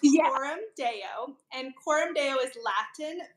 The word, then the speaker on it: Coram Deo: her great conversation points so it's so it's pronounced Corum Deo and Corum Deo is Latin for before the